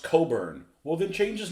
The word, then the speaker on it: Cockburn: name is spelled Scott Das cockburn and he's pronounced Coburn well then change his name to Coburn but